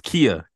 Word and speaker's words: Kia: The way it's spelled sometimes it's like okay, Kaya, Kia, but it's Kia.